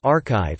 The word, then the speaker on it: arXiv: The arXiv, pronounced arXiv, is a repository of